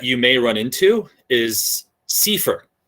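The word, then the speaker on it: CEFR: may run into is seifer it's not kefir i don't i mean maybe somebody pronounces it keffer but i've only heard it pronounced sifer that's the common european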